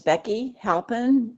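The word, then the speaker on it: Beki Halpin: My name is Becky Halpen. It's spelled B E K I H A L P I N.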